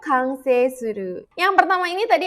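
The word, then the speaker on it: 完成: Lagi-lagi ini kanjinya bertemu dengan kanji lagi, jadi dibacanya kang ya, kangryo kansei.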